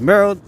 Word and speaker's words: Merl: is it mer or is it merly I want to make sure I'm pronouncing the names correctly here okay so one more tree we are checking out okay so it is Merl as an Earl okay thank you okay